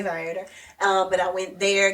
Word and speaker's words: Viator: I got my tickets, just for anybody who needs to know, from Viator. Okay. Oh, yeah. Or Vtor or however people pronounce it, but I say Vitor.